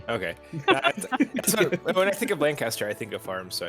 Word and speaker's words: Lancaster: And I'm like, no, it's Lancaster. If you go to the farm market, there are literally shirts that said Lane Kiss Dur. Damn it. This is how you pronounce it. Don't get it wrong.